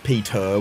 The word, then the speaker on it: Peter: know what's weird when people say my name like Peter would like the the tea instead of like a D in an Australian accent yeah yeah when people